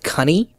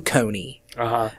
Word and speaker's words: coney: The word coney, referring to rabbit, was originally pronounced cunny.